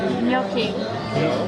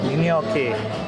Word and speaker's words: gnocchi: How do you pronounce that? Gnocchi. Gnocchi.